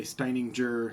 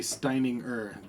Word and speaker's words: Steininger: And the way it's spelled, people say Steininger, Steininger. It's never pronounced right, and I just go with the flow. But it's actually Steininger. The G is not really said, kind of like at the end of thing.